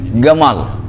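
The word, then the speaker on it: جمال: Itu Ustadz Gamal itu yang kemarin kita itu asal kalimatnya bukan Gamal, itu Jamal. Itu lahjahnya lahjah Mesir, jim jadi g, Gamal.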